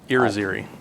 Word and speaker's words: Irizarry: And this is correspondence from you to somebody named, I don't know how to pronounce it, Irizarry? Irizarry.